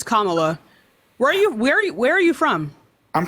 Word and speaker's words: Kamala: It's Kamala. Where are you from? I'm from northeastern India. Right, so you're from fucking India. You should be able to say her name. It's Kamala Harris, man.